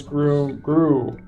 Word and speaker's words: Gru: Groom? Why are you adding an M? Groom? That's a frowny face that I put after it. Oh, okay. So it's Gru.